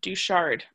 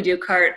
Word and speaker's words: Ducart: next is um duchard i apologize if that's not a good pronunciation no worries no people usually don't get it so my name is ducart uh i am going